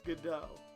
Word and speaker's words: Godot: it's good oh okay it's good dough that's what i kind